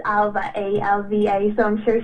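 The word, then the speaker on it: Ailbhe: tricky ones for people who aren't Irish and Alva in particular because of the spelling yeah true actually I actually came across Alva on Twitter and she actually has in her bio pronounced Alva a LV so I'm sure she gets a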